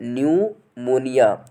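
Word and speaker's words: pneumonia: तो पहला है फ्रेंड्स हम लोग का एग्जाम्पल है न्यूमोनिया। तो फ्रेंड्स इसमें आप देख रहे हैं कि इसमें जो लेटर पी है, फर्स्ट लेटर है, वो साइलेंट है।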